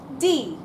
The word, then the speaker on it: die: Even though in English it looks like the word die, in German it's die. And I'd very much like you please to pronounce it as die.